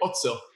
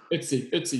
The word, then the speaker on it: Ötzi: I mean, like these mushrooms have been found with like Otzel. There's a better German pronunciation of his name, but the Iceman, the guy they found there in Tyrol, southern Austria, northern Italy. Ötzi, yeah.